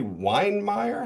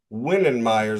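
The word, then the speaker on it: Wittenmyer: uh do you say wine meer? How do you say Whittener? Winnen Meers is how we're going to say Witten Meer.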